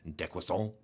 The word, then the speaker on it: décroissance: term that's coined is décroissance, which is that's the French pronunciation in case you didn't know.